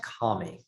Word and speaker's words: Kami: Pronounced Kami, if we're going to be, It's Kami?